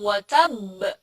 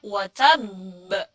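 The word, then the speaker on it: وَتَبَّ: Kesalahan yang pertama adalah banyak sekali yang mengucapkan kata watab di ayat pertama, di ujung, biasanya itu tidak disyiddah bacanya. Padahal harusnya watab. Itu B-nya seperti ada dua. Huruf B-nya double. Karena ada tasydid di situ.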